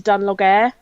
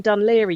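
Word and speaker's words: Dún Laoghaire: like do you mean dun Laoghaire you prat and it's yeah it's pick a letter and pronounce it completely the opposite to how you think it should be so um but yeah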